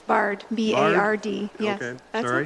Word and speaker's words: Bard: Have I pronounced your last name right or not? It's Bard, B-A-R-D.